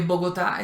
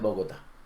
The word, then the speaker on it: Bogotá: Que Bogotá es Bogotá, no Bogotá. ¿Sí? Sí, los eslovacos siempre dicen Bogotá, no dicen Bogotá.